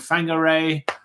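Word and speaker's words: Whangārei: which have almost like many names which have wh it's actually pronounced f so you know for example you have a town called Fang Garre you have a town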